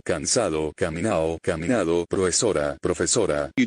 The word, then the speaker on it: cansado: In Spanish from Cuba, like that of Andalusia, you omit consonants. Cansao, cansado, caminao, caminado, profesora, profesora.